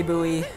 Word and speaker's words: buoy: the pronunciation i'm just i personally i say bowie as an american i know some of you may say boy yeah yes just kill